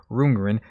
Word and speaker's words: Rundgren: time later alright so todd rundgren initially that's how i presume that's how his name is pronounced but i want to make sure everybody has a moniker everybody has a suit in him everybody has a name so make sure i pronounce it correctly so we have todd roongren hello it's me 1972